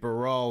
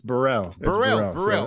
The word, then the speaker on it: Biral: last name right right it's uh it's Burrell okay yeah all right the a is an e it makes no sense